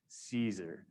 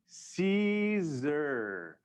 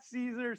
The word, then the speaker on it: Siser: past, the first lesson is how to properly pronounce Siser. So say it with me, Siser. That's right, you did it, congratulations. Tell your friends, let us know that is not Siser, Siser, Siser, all the other versions.